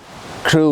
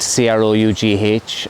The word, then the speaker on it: Crough: Crough Woods is spelled C-R-O-U-G-H, and I'm led to believe by a local that's how you pronounce it. Often in the past I've mispronounced it and called it Crough Woods or Crough Woods, but it is an